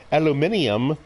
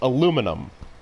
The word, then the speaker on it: aluminum: All you Europeans and British people that go aluminium, that's wrong. 100% wrong. 100% wrong. Even the way you wrote that there, trying to break out each syllable. 4 syllables? Alumin. That's you should have broke that out again. That's 5. Aluminium. That's 5 syllables. But you broke it down into 4. That's wrong. It's aluminum. You guys are doing it wrong.